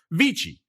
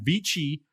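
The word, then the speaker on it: VICI: American it' be VC if it's Italian it' be vich vichi properties VI ticker symbol vich VI C I'm going to pronounce it the Italian way because why not vich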